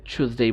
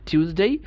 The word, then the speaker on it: Tuesday: আমরা টিউসডেও বলতে পারি, আবার এটাকে অ্যাসিমিলেট করে চুজডেই বলতে পারি। টিউসডে অথবা চুজডে দুইটাই সঠিক।